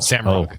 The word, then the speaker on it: Roush: They're telling me you actually pronounce it not Roush but Rug. That's actually the correct pronunciation. Sam Rug.